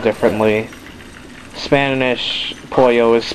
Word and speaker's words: pollo: all the time oil well then again it is spelled differently spanish pollo is p o double l o kirby spoil